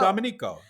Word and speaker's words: Domenico: How do you pronounce it? Domencio or Domenico? Domenico.